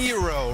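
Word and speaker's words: Herro: Hero rhymes with hero, and certainly that's snapped on this dunk.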